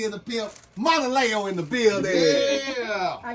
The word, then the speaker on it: MONALEO: But it's MONALEO, like Mona Lisa, but scratch off the Lisa.